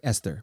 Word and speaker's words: Esther: And Esther Perel, looks like Esther, but it's pronounced Esther.